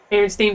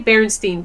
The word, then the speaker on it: Berenstain: So if you say Berenstain Bears, like if you really pronounce the A, then you're like, oh yeah, no, that's weird. But if you just kind of like say it quickly, like Berenstain Bears, you don't think about it, and it sounds like the E sound.